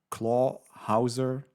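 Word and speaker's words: Clawhauser: So maybe in the next movie we get more of Chief Bogo and Claw Hauser.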